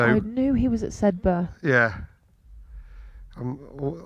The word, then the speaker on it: Sedbergh: I knew he was at Sedbergh. Yeah. I'm always reluctant to pronounce the GH. I think it is Sedberg, isn't it? Yes. Not Sedberg. No, Sedberg.